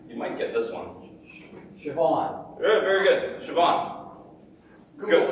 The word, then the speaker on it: Siobhan: It's how it's spelled. Okay. Next. Who's got four? Yeah. S-I-O-B-H-A-N. All right. You might get this one. Siobhan.